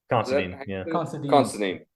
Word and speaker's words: Considine: Considine.